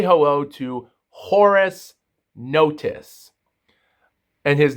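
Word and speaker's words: Horace Notice: Say hello to Horus Notice and his name is spelled H O R A C E space N O T I C E.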